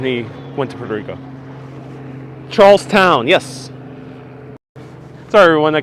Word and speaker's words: Charlestown: yes sorry everyone i keep saying charleston uh just because i'm so used to a lot of places that have that t-o-n most places have t-o-n they have t-o-w-n so charlestown sorry for the mispronunciation